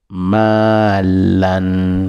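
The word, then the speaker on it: مالاً: Ce qui suit c'est malan, ma, en tirant un peu la lettre ma et en disant lan, la à la fin, lan, malan, malan, ma comme maman, lan comme Anne, lan, malan, malan.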